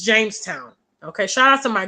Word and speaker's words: Jamestown: Or did I say Johnstown? Okay, my bad. Well, you got it. Sorry. James John, I think they're brothers. My bad, guys. I mispronounced it. Thank you so much, Richard. It's Jamestown.